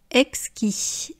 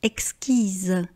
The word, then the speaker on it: exquis: Exquis, au féminin ça devient exquise, ici c’est exquis, vous ne prononcez pas la dernière consonne, il n'y a pas de lettre « e », c'est au masculin, donc on dit exquis.